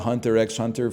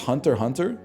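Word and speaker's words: Hunter × Hunter: I I've been calling it Hunter X Hunter for years, man. It's pronounced Hunter Hunter.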